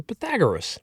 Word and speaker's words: Pythagoras: Greek mathematician and philosopher Pythagoras. It's spelled p y t h a g o r e s, Pythagoras. If you want to get some other way about it, you can say Pythagoras.